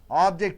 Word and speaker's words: object: for India's progress object object two syllables an ounce of a syllable stress suppose if it is verb you're setting the second syllable right sir so object